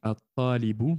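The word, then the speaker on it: الطالب: Donc, Vous voyez bien sur la première lettre la shadda, ce qui signifie que le lem n'est pas lu, n'est pas prononcé ici.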